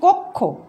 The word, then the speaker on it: কক্ষ: যেমন কক্ষ আমরা লিখেছি, উচ্চারণ হচ্ছে কক্ষ, কক্ষ আসছে উচ্চারণ, দেখো।